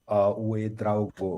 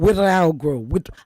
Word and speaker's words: Ouedraogo: it's Lasanne Ouedraogo. Ouedraogo.